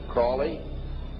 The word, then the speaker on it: Crowley: learned about was aliser Crawley he likes to have his name pronounced Crawley to rhyme with holy and uh the satanists